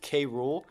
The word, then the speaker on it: K. Rool: When she actually sings the song in game, it's spelled cruel, like normal cruel. But the way that she pronounces it, it's exactly like how they pronounce K. Rool in the cartoon. I know. They go K-Rool.